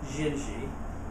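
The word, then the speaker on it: Dindi: every now and then down there they pronounce everything that's D's they pronounce it as a g as in the tune xinji it's D you know it's d i n d i n when they pronounce it jingi so Ed would be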